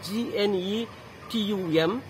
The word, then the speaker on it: Gnetum: The spelling of Gnetum is G-N-E-T-U-M. G is silent here, you must read it as Gnetum.